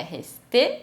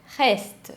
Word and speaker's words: reste: Só que atenção, se essa palavra acaba em E, que não tem acento, esse E não vai ser pronunciado, ele é mudo. Então por isso que não é resté, é reste.